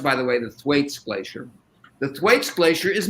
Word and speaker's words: Thwaites: donald steinle pointed out that the way it's pronounced by the way the thwaites glacier the thwaites glacier is melting and it's